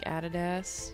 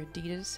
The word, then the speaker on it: adidas: shoes let's look like added s or adidas however you want to pronounce that we tend to say added s in Australia cool kicks down here